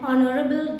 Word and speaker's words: honorable: These are words which start with letter H, and in these words letter H is a silent letter.